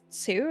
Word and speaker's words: Tsu: So is, I guess, Sue, is that how you pronounce it? Yeah. It's like TSU, an emperor most foul.